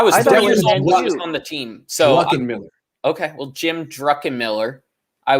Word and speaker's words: Druckenmiller: San Francisco traded Jim Druckenmiller for a 7th-round pick that wound up being Druckenmiller? Is that not how you say it? No. How do you say it? Druckenmiller, but I like Drunkenmiller better.